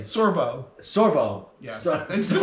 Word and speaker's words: Sorbo: He doesn't know what Kevin Sorbet. Sorbo.